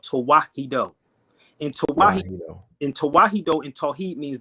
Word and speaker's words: Tewahedo: It's Tawahido, and I'll spell it out for y'all so y'all can look it up.